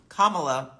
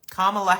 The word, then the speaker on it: Kamala: well this is for Kamala Harris Kamala kamla Harris I just just know that when I get something in my mind it's so hard for me like a pronunciation to to make the switch kamla Harris is uh